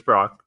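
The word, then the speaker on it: Brach's: great candy brand and I looked at pronunciation it is Brock so don't don't don't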